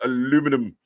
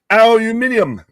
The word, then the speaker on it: aluminum: It's pronounced aluminum. Aluminium. You added a couple extra letters in there.